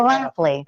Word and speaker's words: Schlafly: of town, they're always like, how do you pronounce the name? It's a tongue twister a little bit. Schlaf and Schlaf. Exactly. Schlafly. Exactly. I know it sounded really weird. Schlafly.